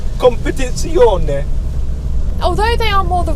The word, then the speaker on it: Competizione: Like they the have Competizione. You need to put an Italian accent on it. Competizione.